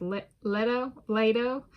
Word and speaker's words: Leto: You know, if depending on, and like, and then, you know, if some people pronounce the letter E as like an A sound, then it's Leto. So I'm like, also like Plato, so it's like, all right, just be tolerant of different pronunciations.